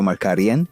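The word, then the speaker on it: Markarián: remember him for his peculiar last name, Sergio Marcaran, which rhymes with Pashinhan or Kardashian.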